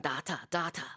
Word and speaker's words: data: 근데 그 교수님이 이제 호주에서 항상 data 이렇게 말했던 기억이 나요. 그래서 독특하다 이렇게 생각했던 기억이 나는데 어쨌든 그렇게 발음하기도 합니다. Industry data, 업계 자료가 되겠어요.